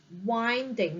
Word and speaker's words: winding: say the next word it's winding not wind winding means it's curvy